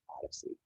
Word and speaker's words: OHDSI: data sciences in informatics or ohdsi or pronounced odyssey omop is designed really